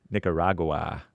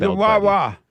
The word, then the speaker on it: Nicaragua: Nicaragua is how it's pronounced in Spanish. Nicaragua. Oh, amazing. Nicaragua.